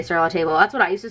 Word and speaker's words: Sur La Table: at Sur La Table Sur La Table is apparently the correct way how you say it even though when you look at it it looks like Sur La Table but I don't know